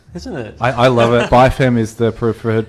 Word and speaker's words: BIFEM: music great acronym isn't it I love it by fam is the preferred pronunciation well look originally I thought it was Biffen yeah a bit has become by from because